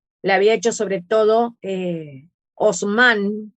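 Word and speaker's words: Haussmann: había hecho sobre todo osman que se escribe con h houseman también se podría pronunciar pero en realidad osman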